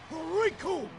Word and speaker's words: Raccoon: to this man, because the name's Raccoon, and it rhymes with doom, and you're gonna be hurting all too soon!